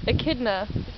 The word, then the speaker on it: echidna: and how do you pronounce it Aida AK kidna Aida it's like a it's so no fool